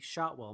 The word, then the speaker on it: Shotwell: it's at Shotwell my name is spelled just like it sounds shot well anyways I'm gonna get